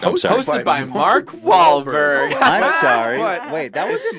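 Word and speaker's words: Wahlberg: Bro, your name is Mark Wahberg. Mark Wahberg. Well, the H is silent.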